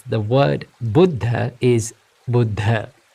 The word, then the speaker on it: Buddha: the Supreme Buddha now the correct way to pronounce the word Buddha is Buddha it's not Buddha or it's not Buddha it's Buddha so the Buddhist teachings are called called Buddha